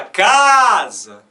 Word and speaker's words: casa: Então, o C nós pronunciamos com som de K, né, como K, som de K. O S tem som de Z, por quê? Porque vem entre duas vogais. Sempre que a letra S aparecer entre duas vogais, ela é pronunciada como Z. E esse último Azinho aqui está de cabeça para baixo, porque ele é um Azinho fraco. A gente fala casa. O último A é fraco, então, por uma convenção,